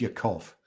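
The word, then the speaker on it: Ya'akov: Yakov or um Yakov I'm not sure how it was pronounced precisely in Hebrew I'm assuming something with the being on the second syllable I think it's Yakov how Yakov got to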